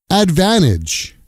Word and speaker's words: advantage: Advantage. Advantage becomes advan-age.